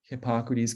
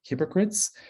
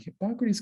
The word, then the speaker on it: Hippocrates: Trouble is, most of the public does not know how to pronounce Hippocrates. And if you were to guess how they mispronounce it, if you think it's hypocrites, you are correct.